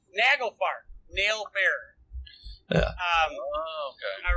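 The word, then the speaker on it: Naglfar: awesome no it is I said it right nagelfar nail Bearer yeah um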